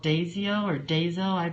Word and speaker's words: Daiso: Daiso.